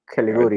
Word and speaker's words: Caligiuri: Another interesting bit, which I thought it was funny, Daniel Caligiuri, whatever. Caliguri. Thank you. All right, so I'm gonna f up everything I say phonetically.